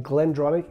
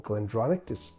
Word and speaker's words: Glendronach: If you're a lover of sherried single malt whiskies, then Glendronach is definitely the whiskey that you need to get to know better.